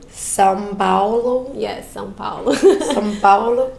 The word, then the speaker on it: São Paulo: São Paulo. São Paulo?